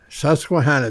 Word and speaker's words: Susquehanna: um how do you say that Susquehanna River Susquehanna the Indians uh reason for Susquehanna meant wide